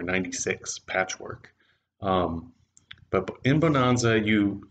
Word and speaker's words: Bohnanza: this is the game bonanza b-o-h-n-a-n-z-a um which is like bonanza but with beans in german it's also known as